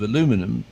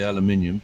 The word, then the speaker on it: aluminum: two thin layers of aluminum I give it the American pronunciation the Brits say aluminium but we know what